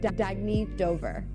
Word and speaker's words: Dagny Dover: Oh, it's pronounced Dagny Dover.